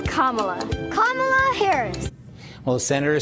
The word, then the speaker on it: Kamala: it's not cam it's kamla kamla Harris well senator says she's used to people mispronouncing her name but says it's easy to remember just combine Kama with LA and you get Kamala that was 2016 and